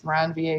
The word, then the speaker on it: Ranvier: nodes of ranvier because around va is french so you know french hate to pronounce the letters at the ends of words uh and this is